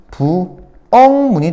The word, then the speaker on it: 부엌문: 할까 이응이 된다 했죠 그죠 그래서 뭐가 된다 부엉 문이 됩니다 참으로 발음은 요렇게 요렇게 앞뒤로 대괄호 좀 쳐 줘야 돼요 난 이거 되게 강조하는데 대괄호 쳐줘야 돼 이거 다름이에요 발음 발음 알겠지 어 부엌문이 된다 부엉 부엉 부원분 그 다음에 꽃망울 한번